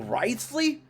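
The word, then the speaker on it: Wriothesley: bother dealing with it rley that's how you're supposed to pronounce his name really learning a lot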